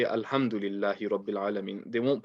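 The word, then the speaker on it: الْحَمْدُ: Well, a lot of people might say Alhamdulillahi Rabbil Alamin. They won't pronounce the ha clearly. So make sure that the ha is pronounced nice and clearly.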